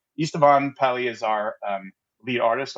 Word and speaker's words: Esteban: By the way, I got to pronounce his name right, which is Esteban. Esteban Pally is our lead artist on Starfield.